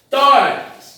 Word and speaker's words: tórax: A palavra tórax, da mesma forma, termina em X e a sílaba forte é Tó.